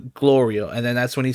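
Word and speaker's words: Glorio: being his silly self mispronounces Gloria's name as he always does I think goio or something like that he calls him and then glor is like no I need you to say my name correctly at this point it's on purpose he like no it's not then say it correctly if not I won't answer you so he's like it's Gloria he's like Gloria and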